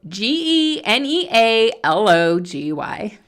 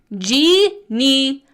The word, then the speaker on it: genealogy: have to laugh because the debate continues on how to say the word that we spell g e n e a l o g y so phg Tob says and spells it phonetically genology genology you know I thanks for sharing and I'm going to agree to disagree genealogy is the way I've heard it throughout my entire life that's my story and